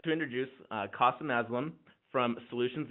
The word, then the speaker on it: Kasim: today my name is Qasim it rhymes with awesome because my dad wanted